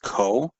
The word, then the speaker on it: cosecant: The first one is abbreviated CSC, and this means cosecant. And the way that we pronounce this is cosecant.